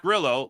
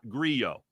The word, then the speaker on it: Grillo: It is, in fact, Grillo, like the pickles, not Grillo.